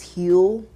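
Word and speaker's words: Huel: And so um I saw this and I want to say you pronounce this heel. Kind of like if it's fuel it's heel um daily greens.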